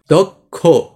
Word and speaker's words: দক্ষ: এর মানে একটা ক, তারপর ক, এইচ, একটা খ লাগছে। এই জন্য এখানে আমাদের কি করতে হয়েছে? খ লিখতে হয়েছে। এখন উচ্চারণটা কি হয়েছে? দক্ষ।